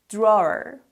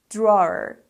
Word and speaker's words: drawer: differently we say drawer we use the or sound like floor and more or put it together